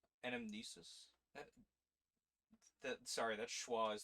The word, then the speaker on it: anamnesis: so essentially uh the title of the game anamnesis anamnesis that sorry that schah is throwing me off sus yeah I'm saying it right brain anamnesis a remembrance of the past or platonism the